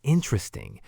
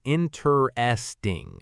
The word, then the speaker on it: interesting: Many learners say interesting, stressing the third syllable. But in natural English speech, the stress is on the first syllable. Interesting. And as we mentioned, it often gets compressed to three syllables.